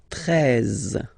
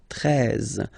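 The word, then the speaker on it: treize: Then now if you combine this E and E, you get the sound E, really open, 13, 13. Final E, as usual, not pronounced, 13, 13, okay?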